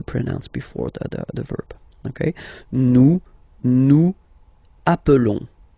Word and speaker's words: nous appelons: Okay, nous appelons. And then little link would be perfect, so let's pronounce the whole thing again. Nous appelons. Nous appelons. Okay, final S doesn't exist.